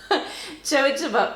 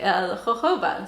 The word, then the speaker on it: jojoba: J sound, and it's jojoba, jojoba oil. And I kind of mixed them all up and called it jojoba, but I guess in the US people do pronounce it the more Spanish way, jojoba.